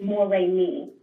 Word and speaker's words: Moremi: Yes, but it's pronounced Moremi.